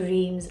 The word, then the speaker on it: Reims: I am going to a place called Re. This is how it's pronounced in English, not in French.